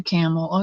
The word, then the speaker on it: Campbell: good yeah she's a camel okay went to school with a Cassie Campbell she didn't pronounce the b either she pronounced it camel like Pam does Camel